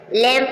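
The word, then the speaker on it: lamb: means मकबरा य एम एम के बाद भी साइलेंट है टम लम लम मीन भीड़ का बच्चा मेमना डेट ट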